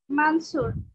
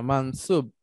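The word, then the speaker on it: منصوب: আচ্ছা, দ্বিতীয়টা মানসুর, মানসুব উচ্চারণ করেন না, না, ব ব। আচ্ছা স্যার, আমি সবসময় এটা মানসুর পড়ে আসছে, ঠিক আছে স্যার, না, মানসুব।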